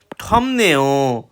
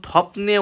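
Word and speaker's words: 덥네요: এরপর রয়েছে নমু মানে খুব, থমনেও গরম লাগছে, খুব গরম লাগছে। এখানে কিন্তু উচ্চারণ থপনে উচ্চারিত হবে না, থমনে উচ্চারিত হবে, মানে বিয়োগের পর নিয়ন থাকলে সেটা ম উচ্চারিত হয়।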